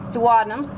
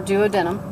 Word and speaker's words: duodenum: um esophagus again pancreas duodenum or duodenum your your choice on pronunciation that's about it for